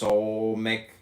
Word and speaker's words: Samekh: Samekh, pronounced Solmek, transcribed as S, the number 60, meaning props support the intelligence of probation or trial.